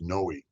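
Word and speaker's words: Noe: It was N Oe. I think it's pronounced Noi.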